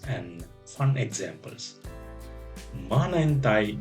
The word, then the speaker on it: Maanantai: Maanantai means Monday. Maanantai. It comes from the word ma, meaning earth. Repeat after me. Ma, nan, tai.